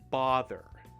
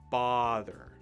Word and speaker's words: bother: saying this word now now this word is not brother notice that there's no r in the word or no first r so it's not brother but bother bother bother try it again